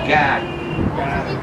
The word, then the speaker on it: garden: And let me tell you something, it's not pronounced garden here, it's God. God.